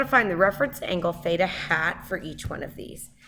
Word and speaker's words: theta hat: how to say this this funny symbol is a hat symbol this is Theta hat it's not a super